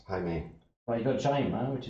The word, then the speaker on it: Jaime: Jaime. Jaime. Well, you've got Jaima, which is like Catalan one. You know, Jaume. Jaume. I like Jaume better, though. Yeah. Because here they pronounce the J as a Jota, is a sound.